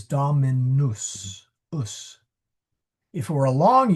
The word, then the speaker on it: dominus: It rhymes with mus or maybe. Yeah. Doesn't rhyme with noose. It's not dominous. It is domi. Sorry, now I'm putting a the uh the wrong vowels. It is dominus.